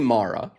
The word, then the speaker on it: Mara: That's how you pronounced it. I actually don't know what it's definitely Mara, so I'll stick with Mara.